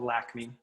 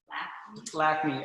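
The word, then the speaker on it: Lakme: We have a new color line for our southern market called Lacme. And it's Is that how it's pronounced? Yep. I couldn't figure it out. Yep. Lacme, L-A-K-M-E.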